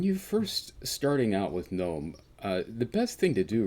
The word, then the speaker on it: Knome: hey welcome to gnome gnome is a game about gnomes it's spelled a little bit differently but i'll get